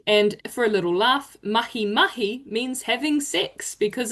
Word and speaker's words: mahi: Lucy, would you like to have a go at pronouncing activity for us? The Māori word, of course. Yeah, mahi. Perfect. Yes, mahi.